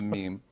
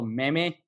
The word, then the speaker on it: meme: end up on me a meme is in Spanish what you would call me me you know literally how it's spelled Meimei but in English we call it a meme I get that question